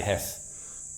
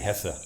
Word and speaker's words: Hesse: It's I grew up with everybody calling me Hess, but the name is actually Hesse. It's probably a British pronunciation versus a German pronunciation issue.